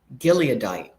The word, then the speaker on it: Gileadite: I have a hard time pronouncing some of these names, some of these words. Gileadite, that's the word.